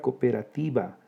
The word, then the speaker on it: cooperativa: Fíjense, la palabra cooperativa se pronuncia en 6 sílabas. Hay un hiato entre dos vocales iguales, la O. Ese es un hiato. La sílaba tónica es la penúltima, llana que termina en vocal, sin tilde.